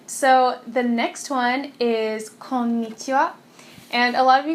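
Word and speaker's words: こんにちは: And once again, it's pronounced Konnichiwa.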